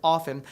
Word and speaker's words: often: bit like tomato tomato if you're caught pronouncing the T in the word often someone might look at you funny but you won't be